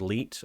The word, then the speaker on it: 1337: TwitchTin1337, which is pronounced Leet, as we all know.